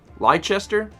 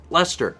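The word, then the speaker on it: Leicester: a chunk of bread what is that word lie Chester I would pronounce it like uh stirs that lie Chester and some ready-made pie pastry I didn't know if that's like yeah okay Lester I know it was one of those things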